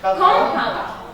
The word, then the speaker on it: compound: How are we going to pronounce it? Compound.